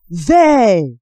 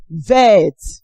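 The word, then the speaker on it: vert: For instance, we have ver. It ended with T. T is a consonant. So if you pronounce it vet, the Frenchman listening to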